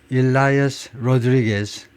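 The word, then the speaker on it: Elias Rodriguez: The suspect, 용의자가 일라이어스 로드리게스, 아마 그렇게 발음할 건데, 일라이어스 로드리게스 shouted Free Palestine, 팔레스타인을 해방시켜라라고 소리 질렀습니다.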